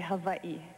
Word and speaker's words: Hawaii: call it Hawaii well if you want to be very technical you would say Havi because the Hawaiians pronounce their W's as V now it sounds a